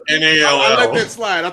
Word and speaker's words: Nall: Also, there's no silent K at the front of Ryan Null's name. It's just NALL.